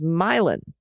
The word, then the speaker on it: Milan: Chai Lai okay and Milan is myelin some pronunciations reverting back